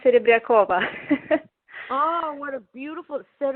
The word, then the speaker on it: Serebryakova: the show react hi my last name is pronounced it Abed Koba ah what a beautiful sort of the is that I say that right yes that's